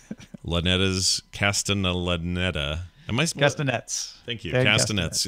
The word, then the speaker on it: Castellaneta: Very different than the current incarnation of Dan Castellaneta's, however you say his name, Castellaneta.